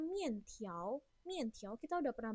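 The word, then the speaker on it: 面条: Sebenarnya ini bacanya mian tiao.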